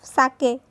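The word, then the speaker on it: sake: सा is pronounce like फा इन father. तो जो हम फादर में फा बोलते हैं वैसे इसमें सा, एंड के राइम्स विथ वे। तो के को वे के साथ हम करेंगे तो साके, ऐसा इसका प्रोनाउंसिएशन होगा।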